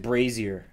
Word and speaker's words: brazier: titles floating over the brazer where is it Brazier because a braier is is a is a